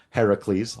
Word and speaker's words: Heracles: through uh you know certain trials as uh Heracles I'll say it properly is uh known for